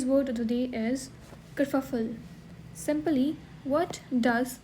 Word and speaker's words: kerfuffle: So hello everyone, today's word of the day is kerfuffle. Simply, what does kerfuffle means? Its pronunciation, you can note it down.